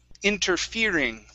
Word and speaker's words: interfering: Next is interfering. Okay, so our stress is going to be right here after on the F-E. So it's interfering. Interfering.